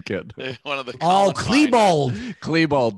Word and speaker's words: Klebold: That's a Dylan Clayball quote. Who's Dylan Clayball? Oh, he's God. He's the Columbine kid. One of the Klebold. Klebold, damn it. Oh, he says name wrong.